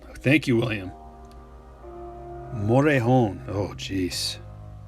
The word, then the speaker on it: Morejon: I've been saying Morjan, but it's not. It's like... I think the J is silent. There's a silent one in here. There's a silent letter in there. I think the J might be silent.